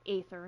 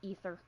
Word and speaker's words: Aether: have another encounter with ether um which with the way his name is spelled it really is Aether not ether people do you not